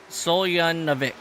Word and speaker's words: Soljanovic: Jamie G says to pronounce Sonny's last name, it's Soljanovic.